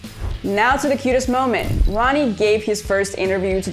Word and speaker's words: Roony: Uh, Ronnie.